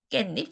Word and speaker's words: 깻잎: 여러분들 중에서 상추 좋아하시는 분도 있고 깻잎 좋아하시는 분들도 있을 거예요. 근데 여기 봅시다. 깨와 잎이라는 요 두 단어 사이에서 갑자기 발음을 하다 보니까 두 단어 사이에 없던 니은 소리가 덧나는 경우가 갑자기 생겨요.